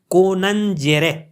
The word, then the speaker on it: conjungere: Latin में हम लेंगे, यानी यहाँ पे कोनंजेरे, कोनंजेरे, कोनंजेरे, ये लैटिन प्रोनाउंसिएशन है और लैटिन वर्ड है।